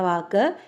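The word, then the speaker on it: वह: പറയുന്നത് വോ വഹ എന്നാണ് വാക്കെങ്കിലും ഉച്ചാരണം വരുന്നത് വോ എന്നാണ് അവൻ അവൾ അത് വോ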